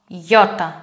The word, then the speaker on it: Ιώτα: Take the word yard in English. Y, yo, yota.